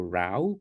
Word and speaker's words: row: if they've had a row so to had a r not a row here the word is R the word can be pronounced as row or R but it means different things to have a r